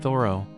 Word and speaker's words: Thoreau: louisa malcott wrote that the name was usually pronounced like the word thorough in american english though thoro was more